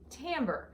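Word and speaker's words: timbre: but it's not it's the word is actually pronounced Tambor and this is a musical word that means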